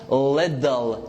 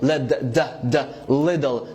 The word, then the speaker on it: little: Okay, we said before that the T followed by L is called American T.